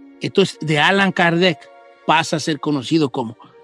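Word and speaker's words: Allan Kardec: él se cambió de nombre y se pone alan kardec así firmaba sus libros alan kardec alan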